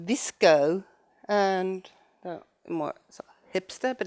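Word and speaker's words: VSCO: one that's called called visco and more a hipster but it's still very good and since a hipster it's called v s c o but pronounced visco and the one you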